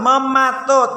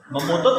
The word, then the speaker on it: mematut: Iya, bacanya yang benar, mematut. Itu soalnya. Jawabannya coba dibaca. Memutut lagi, mematut bukan memutut.